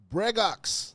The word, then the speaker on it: Bregox: We're going to do another video on Bregox.